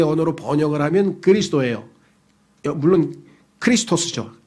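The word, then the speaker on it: Χριστός: 번역을 하면 그리스도예요 물론 크리스토스죠 헬라어로 발음하면 크리스토스 그를 영어로는 크라이스트 우리말로는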